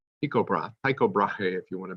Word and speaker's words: Tycho Brahe: next character you need to know the name Tycho Brahe eco broth Tycho Brahe hey if you want to be an American